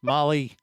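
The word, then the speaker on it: Malé: Tam Mali, right? Molly. M which is spelled M A L E which is mail. Yes. But it's Mali and uh airport code MLE for the record.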